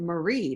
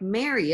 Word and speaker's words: Marie: your own name, and you don't really pronounce it Marie, do you? You say it's more like Mary, isn't it?